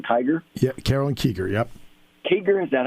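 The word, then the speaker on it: Kieger: Kiger, is that how you pronounce it?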